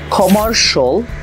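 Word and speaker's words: commercial: For example, শিয়ালের পরিবর্তে যদি আপনি শল বলেন তাহলে ওয়ার্ডসগুলো হয়ে যাবে এসেনশল, কমার্শল, রেসিডেন্সিয়াল, পটেনশল, ফাইন্যান্সিয়াল।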